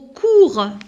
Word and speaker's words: cours: Au cours, alors ici j'ai barré la lettre S parce que je ne la prononce pas.